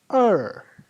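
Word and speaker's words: 儿: They are pronounced as er. Er. There are no tones above it, so we can pronounce it easily.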